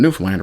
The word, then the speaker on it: Newfoundland: But if you're born after 1970, chances are you primarily put the stress on the first syllable. Newfoundland. See, the problem is it if you're putting the stress on the first syllable, you're actually separating it into three different words. New found land. And it's not. It's two words. newfound land as in the newfound land which is how it